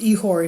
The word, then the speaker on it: ichor: ehor i c h o r uh it's pronounced ehore in Greek that flowed in the veins of